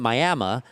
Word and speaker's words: Miami: We're talking about people like Esteban Torres, the former council member who was born in Miami, but you don't pronounce it Miami. You pronounce it Miami.